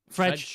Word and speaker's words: Fred: Is it French? Fredge. That's how you pronounce it.